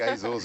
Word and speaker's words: Azores: We've got the Azores in. Hello. Hi. Azores. Did I say Azores? You can say it like Azores if you want.